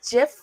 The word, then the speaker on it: GIF: the stream uh so do you pronounce GIF with the like how I just said it or do with the hard g i i pronounce it like the the same G as in a garage ah garage so gif